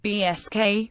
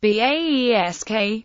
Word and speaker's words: Basque: The English word Basque may be pronounced BSK or BAESK, and derives from the French Basque, which is derived from Gascon Basco, cognate with Spanish Vasco.